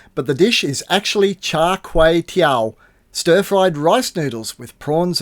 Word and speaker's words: Char Kway Teow: I completely butchered the name, but the dish is actually Char Kuih Teow, stir-fried rice noodles with prawns and Chinese sausage.